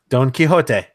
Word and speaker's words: Don Quijote: guys pronounce it how it's supposed to be pronounced can do it it DNQ UI x OTE Don Quijote yep I can nail it and do FL